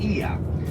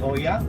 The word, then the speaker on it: Oia: to the town named Ia. So O and I in Greek pronounced E. Okay, so it's Ia, not Oya. Oya.